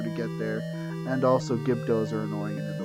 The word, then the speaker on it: Gibdo: Also, fun fact about me, I always pronounced their name wrong. To the point where I thought the name was Gibidos. I thought there was an extra I, and there is not.